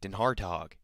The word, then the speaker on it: DenHartog: last names that you're probably ever gonna see it's spelled d-e-n Capital H a r t o g denhartog and an hard talk watches ball won a